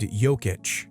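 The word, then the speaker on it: Jokić: the best players in the league is named yic j k i c and then there's some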